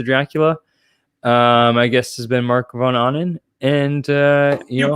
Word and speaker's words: Marc Von Ahnen: My guest has been Marc Von Ahnen. And you pronounced it right.